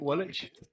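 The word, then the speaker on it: Walpole: this sun's going down i know it doesn't look like wallach but that's how you say it wallet on day three just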